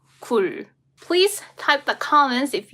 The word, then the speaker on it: 굴: Let me pronounce those words, okay? 글 and 굴. 글, 굴.